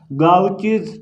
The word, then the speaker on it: Gaucher: जो सबसे मेजर और सबसे फेमस बीमारी है जो सेरिब्रोसाइड के मेटाबॉलिज्म से रिलेटेड है वो है गाउचीज डिजीज। ये आर साइलेंट है इसका, ठीक है।